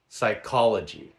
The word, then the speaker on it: psychology: There are also words spelled with the letter P that are unvoiced. For example, pneu monia. Pneumonia. Re ceipt. Receipt. Raspberry. Raspberry. Cupboard. Cupboard. Psy chology. Psychology.